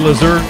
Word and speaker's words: Lazert: They said Lazert is like, you pronounce it like dessert, and she's been delightful, I would say, just like a dessert.